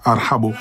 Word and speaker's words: ارحبو: Ils n'arrivent pas à prononcer, ils disent arbo, arbo. Arbo parce que c'est difficile pour un Français de dire arhabo.